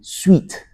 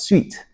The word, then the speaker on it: suite: What the person meant is actually suite, s u i t e is pronounced as sweet.